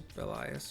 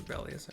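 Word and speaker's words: Belias: There's Bellias or Bellas, however you want to pronounce it.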